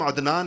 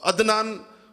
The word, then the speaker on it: عدنان: ہم تلفظ نہیں کرتے۔ مثلا میرا نام عدنان ہے، لیکن آپ میں سے کوئی بھی مجھے عدنان نہیں کہے گا، عدنان کہیں گے، حمزہ سے کہتے ہیں سارے کے سارے لوگ۔ تو عدنان تو حمزہ ہے یہ۔